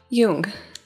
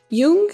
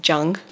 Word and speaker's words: Jung: and like intro psych it's spelled like it would be pronounced junk but it's pronounced like